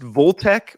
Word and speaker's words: Volt Tech: on volt volt Tech is it pronounced voltec or volt Tech so it's vault-tech the problem was is